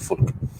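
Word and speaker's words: فُلْك: Arab ataupun dalam Quran ada perkataan fulk perkataan fulk ejaannya sama faamah tetapi dibaca fulk iaitu bermaksud kapal dalam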